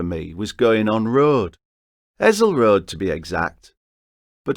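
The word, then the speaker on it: Hessle: It's not Hessel, it's Hazel. Like that song Liza with a Z, 'cause S spells Lisa.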